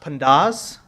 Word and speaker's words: pandas: No, this is just how do you pronounce and Now I'll tell you the middle one is actually pronounced pandas.